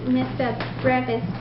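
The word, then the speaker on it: Missa Brevis: It was Mozart's Mr. Brave, I think is what you said, or Mr. Brevis? Yeah, I looked up how to pronounce it online. Mr. Brave, maybe? Yeah, it was Mozart's Mr. Brevis.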